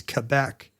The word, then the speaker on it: Quebec: The official pronunciation is Quebec.